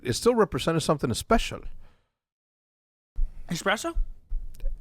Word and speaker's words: espresso: still represents something special espresso espresso not expresso espresso or special yeah your